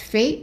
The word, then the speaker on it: fait: what's called past participle, and it is just fait, F-A-I-T. Okay, and we are not pronouncing the T at the end.